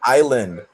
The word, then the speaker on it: island: Oh, it says US island. Island. Yes. The uh the S is silent.